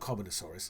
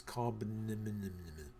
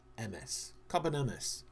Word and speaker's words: Carbonemys: No, not Carbonosaurus, it's Carbonemys. Carbonemys.